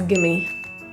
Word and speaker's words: give me: Give me is pronounced as gimme.